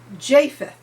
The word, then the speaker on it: Japheth: I mispronounced his name throughout this entire reading. His name is Japheth.